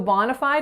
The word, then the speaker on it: bona fide: The first word is bona. Bona. So two syllables there. That first vowel is that low back open ah sound, and the second vowel is a schwa.